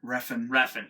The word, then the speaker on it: Refn: I mean, it's just crazy, violent, and colorful, and I do think that Revan stepped up. Revan, or how do you say it? Refn.